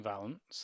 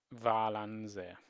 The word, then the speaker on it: Valance: Okay, so you seem to pronounce the third syllable, so it's Valance, apparently. Valance.